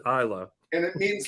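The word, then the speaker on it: Aila: her life so uh it's spelled a i l a and we pronounce it isla and it means like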